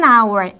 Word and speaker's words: hour: our 하면은 이에서 스펠링은 H로 발음이 되고 스펠링은 H지만 발음은 H가 발음이 안 되고 있죠. 발음이 되고 있어요. 이럴 때는 뭘 쓰냐면은 한시간 할 때 hour an hour 이렇게 쓰게 되죠.